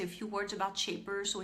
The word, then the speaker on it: Shapr: I said I would say a few words about Shaper. So it's spelled SHAPR, and Shaper is basically there to help you connect with individuals.